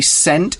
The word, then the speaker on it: scent: the delicious sense ok scent is spelled SC ent the C is a silent letter and the word scent